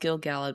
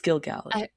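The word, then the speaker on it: Gil-galad: Um, I'm sorry if I mispronounced Gilg Gallad before. Did I say Gilg Galad? I'm sorry. It's Gilgad.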